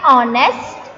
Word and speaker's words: honest: In words like honest, the letter H is silent. So the words begin with vowel sound O.